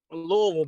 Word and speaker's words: Louisville: been told that that's the correct way to pronounce Louisville right Louisville baby you said it right yes sir hey